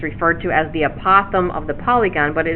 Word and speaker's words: apothem: Now the apothem, that's pronounced apothem, is a segment from the center to the midpoint of each side.